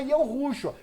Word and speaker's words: Yahushua: A gente sabe que o nome dele mesmo chama Yahushua, ou outras pronúncias que vocês vão dar para Yud, Re, Vav, Shin, Ain. Entendeu ou não? Na realidade, é Yahushua.